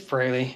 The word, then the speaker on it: Frehley: frankly freely so yeah it's Ace Frehley always was but um some of us pronounced it wrong I am well known